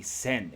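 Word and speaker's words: 栓: our first word of the day is a send a plug bottle a plug bolt cork bung or a stopper uh pronounced pronounced sen with the radicals for a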